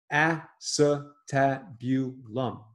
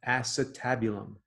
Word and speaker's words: acetabulum: Great word. Acetabulum. 5 syllables. Good word. Study it. Acetabulum.